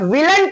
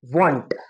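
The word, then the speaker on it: won't: not hadn't but but will plus not विलंट नहीं आएगा आएगा वांट नॉट विलंट वांट क्या आएगा वांट स्पेलिंग ध्यान में रखो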